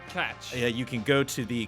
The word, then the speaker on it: Koch: There's also some holdouts still, one or two for Koch Media. And, Got it. If you're still frustrated, we're pronouncing Koch wrong. Catch.